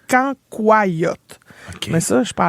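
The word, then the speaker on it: cancoillotte: Mais ça ça moi je dis cancoyote mais il paraît qu'il faut le prononcer canyote.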